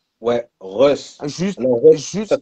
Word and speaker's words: Russ: j'écoutais encore ce matin, son livre audio, c'est Ross. Ouais, Russ. Juste, Alors Russ, ça juste.